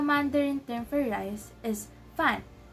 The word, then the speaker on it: 饭: So the Mandarin term for rice is 饭, 饭. So as you can see, it has the fourth tone. So we're gonna sound like we're exclaiming. So we're gonna pronounce it as 饭, 饭, like that.